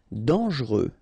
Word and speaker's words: dangereux: Dangereux, final X not pronounced, and then don't really pronounce this E here, okay, so you get dangereux.